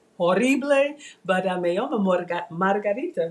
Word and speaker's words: llamo: I don't have anyone to talk to, so it's horrible, but me llamo Margarita, right? Me llamo. Me llamo Margarita. Yeah, it's double L. You gotta pronounce the double L harder.